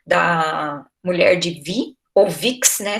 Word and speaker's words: Vix: mulher de vi ou vix né se escreve vix mas em francês é vi fala vi ela foi sepultada né